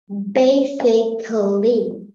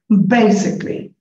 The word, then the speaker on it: basically: Basically. It's rather clear. So, which syllable is stressed here? It's the ba. I mean, together, bay. Basically.